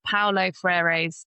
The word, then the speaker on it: Paulo Freire: So a quote that I really love and that Kaia and I named on our previous podcast together is from Paulo Freire's Pedagogy of the Oppressed.